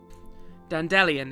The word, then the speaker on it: Dandelion: Dandelion is pronounced like Evangelion. Not Evangelion?